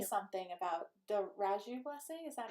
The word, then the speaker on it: Reiju: I will say something about the Reiju blessing. Is that how you pronounce it? Reiju, yeah.